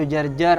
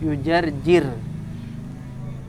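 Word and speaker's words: يجرجر: Maksudnya bacanya berbeda, bukan yujarjir, tapi mungkin yujarjar atau yujarjur. Intinya berbeda. Tapi yang jelas bahwa kesimpulannya satu, yaitu semua ulama sepakat untuk membaca jimnya dengan kasroh, yujarjir.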